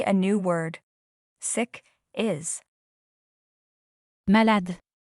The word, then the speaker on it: malade: Malade. Malade. In French, the letter E at the end is always not pronounced. Malade.